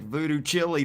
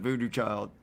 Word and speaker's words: Voodoo Child: Yeah, which is how they spell it, which it looks like voodoo chili to me, but it's actually, we pronounce it Voodoo Child.